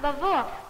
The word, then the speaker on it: Lwów: It's pronounced Lwów.